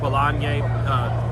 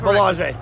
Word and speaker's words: Belanger: Huge assignment against Jaron Ennis, Eric Belanger. Did I get that right, Eric? Nope. Make sure, say it correctly. Belanger.